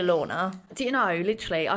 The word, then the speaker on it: Lautner: taylor lautner mug and do you know it's taylor lautner not taylor lautner oh we've been saying wrong all these years but no no he's been saying it wrong oh yeah it's taylor lorna do you know literally